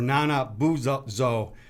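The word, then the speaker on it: Nanabozho: It should have been named Nana Buzo or Nana Buzo. Yes, you're going for the right pronunciation.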